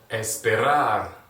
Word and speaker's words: esperar: with a consonant right so the accentuation is going to be on the last syllable right so let's do it you ready it's bad Hey long time esperar right right right you